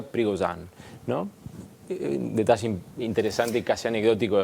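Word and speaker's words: Prigozhin: del grupo Winner porque hasta hace un rato le decíamos y trigosin pero en realidad se pronuncia prigon no detalle interesante casi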